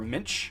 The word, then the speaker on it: Minch: Or Minch, I think, actually is how you pronounce that.